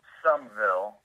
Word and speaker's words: Summerville: I was born in Summerville, Georgia, okay, which is pronounced Sumville for people who don't know.